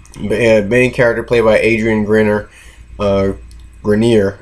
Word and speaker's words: Grenier: Grenier, I believe that's how he pronounced his name.